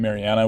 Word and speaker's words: Mariana: And the question again is, how does that relate in terms of timing to the stressed syllable in Mariana, which is the third syllable?